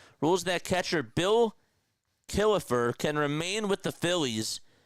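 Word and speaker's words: Killefer: reserved clause was uninforcable, he also found that Kilifer had a moral commitment to the Phillies even if a valid contract was not in place. Yes, Kilifer. That's spelled K I L L E F R.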